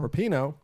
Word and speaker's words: Rapinoe: Rapinoe.